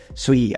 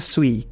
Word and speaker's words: Sui: kalian belum tahu sebenarnya namanya itu memang dibacanya Sui bukan Sui nah ini informasinya minor sih